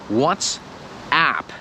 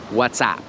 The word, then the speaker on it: WhatsApp: jest firma WhatsApp i słyszeć że to jest Watts up tak jak application i często słyszę że Polacy to wmawiają WhatsApp i oczywiście to ma